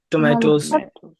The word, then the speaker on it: tomatoes: Tomatoes. Tomatoes. Let me tell you. Whether you say tomatoes or tomatoes, it doesn't matter. Tomatoes is British pronunciation and tomatoes is American pronunciation.